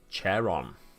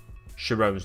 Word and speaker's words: Charon: me get it out everyone pronounces it wrong chair on sharone's chair on no sharon's not chair on to be fair it doesn't look like sharon it's just i think i first heard b pronounce it and she says sharon so i've kind of said jerome from there fair enough i'll try and pronounce it as chair on from now on chairman now on charon